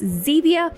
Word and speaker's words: Zevia: items and of course Zevia rhymes with stevia so that is what